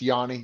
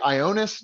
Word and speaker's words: Ioannis: there uh was is is pronounced yani yeah i know it's so uh if you're because some of you can't even hear past does that say ionis no nope it's actually yanu so now that we're